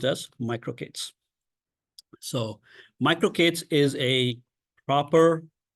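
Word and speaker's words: MicroK8s: And it is spelled as micro K8S, where the word Kubernetes has 10 characters.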